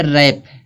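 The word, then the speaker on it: wrap: यहाँ दिया है W के बारे में कि यहाँ पे रैप, इसको वरैप नहीं पढ़ेंगे तो रैप में W क्या होता है, साइलेंट होता है।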